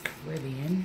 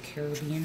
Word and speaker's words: Caribbean: I think this is Caribbean. It's called, or Caribbean, however you say it. So you can say it either way.